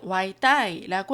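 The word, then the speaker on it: 外帶: 대만식 발음으로는 와이따이라고 하는데요.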